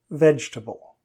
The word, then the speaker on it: vegetable: syllables should there be now there should be three not four vegetable my kids love eating